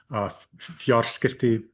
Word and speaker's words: fjarskipti: But be wary, there are a few that have PT, like anything formed from the root skipta, skipta exchange, fjarskipti communications, pronounced with an F, spelled with a T in modern Icelandic.